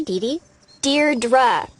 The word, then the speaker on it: Deidre: it or something hi Dei dear dra I know it's got that tricky second syllable but I figured it out by age two don't give up you'll